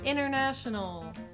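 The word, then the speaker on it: international: I bought a lot of things on the inernet that I had to return inernet, inernet, inernational, inerview. Right? So the T in this case is silent.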